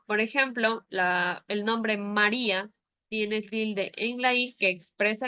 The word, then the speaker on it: María: sílaba No porque si el nombre María no llevar a tilde se pronunciaría Maria No porque no tiene la til Entonces nos dice que